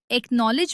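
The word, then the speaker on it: acknowledge: इसके अलावा एकनॉलेज में सी की आवाज नहीं आती।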